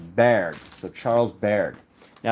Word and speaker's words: Bargue: I think I'm pretty sure he's French, so I'm pretty sure that's pronounced Bargue.